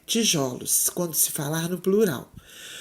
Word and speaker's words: tijolos: palavra tijolo no plural na pronúncia da palavra no plural o o da silva ju é aberto ou fechado vocês acham nós falamos tijolos ou tijolos o certo é o aberto né tijolos quando se falar no